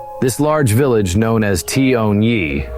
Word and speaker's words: Tyuonyi: This large village known as Toni, pronounced Toni, was indeed impressive.